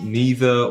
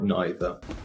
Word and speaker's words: neither: is the usual mistake this word is usually pronounced either as neither or neither me neither so let's